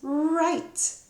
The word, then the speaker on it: write: And in the word write, I don't know if you've noticed, but the W is there and you don't really hear it. It says write.